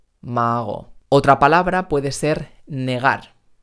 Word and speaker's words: negar: otra palabra puede ser negar negar no estoy diciendo en negar sino negar y tampoco estoy diciendo en dejar mucho cuidado cuidado no cuidando